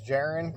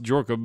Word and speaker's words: Jorka: I think your name's Jaren, correct? It's actually pronounced Jorka, but okay.